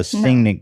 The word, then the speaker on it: singing: So you don't hit the G so hard. You go singing.